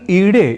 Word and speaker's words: ईडे: यानी अग्नि सूक्त यदि हम पढ़ रहे हो तो हमें अग्निमीडे पुरोहितम को अग्निमीडे पुरोहितम यानी ईडे इस रूप में ही उच्चारण करना चाहिए, और यह ही वैदिक